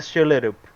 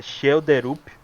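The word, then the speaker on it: Schjelderup: É André Shelerup. Eu fui ver a pronúncia como é que é, Shelderup, mas ele pronúncia Shelderup, meio que sem o D.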